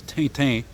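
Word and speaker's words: Tintin: the uh the uh what's known in English as rent or in French which is correct spell pronunciation is tainten a series of comics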